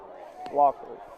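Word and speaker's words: Laughery: have been uh Toby laery or lockery however you pronounce it name I'm not sure hey is it wery Toby wery Locker it's SP l a u g it is Toby Locker it's going to be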